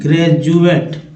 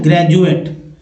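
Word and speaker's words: graduate: DUATE, इसका उच्चारण दोस्तों बोलते हैं ग्रेजुएट है ना, ग्रेजुएट।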